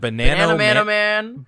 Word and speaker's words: Bananamanoman: Bananamanoman.